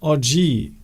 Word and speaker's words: oggi: But apparently, Steve, today is oggi. Oggi. So it's like genius. So it's oggi. So it's the very short I. Oggi. Good. Today. Short O, short I.